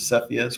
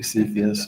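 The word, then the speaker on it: Cepheus: discovered I'm pronouncing that incorrectly I used to pronounce it sephus but it's actually cus sorry so Jerry and I we always were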